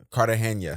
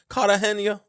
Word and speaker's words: Cartagena: Cartagena.